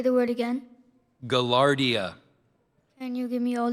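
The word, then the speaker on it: gaillardia: Poihoi is spelled P A H O E H O E. Galardia. Can you say the word again? Galardia.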